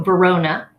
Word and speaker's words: Verona: Verona is not that difficult. That's the name of the city in Italy, and that's a real place. So Verona, that's pretty, I don't think that one's that difficult.